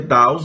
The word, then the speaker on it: Deus: latim que significa daus né aliás pronuncia daus em latim e o significado é